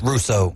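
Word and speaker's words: Rousseau: first round pick Greg rouso if I'm pronouncing that correctly believe it's Russo Russo like yeah okay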